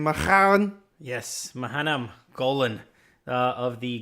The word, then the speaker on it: Menahem Golan: Is that how you pronounce his name? Menahem?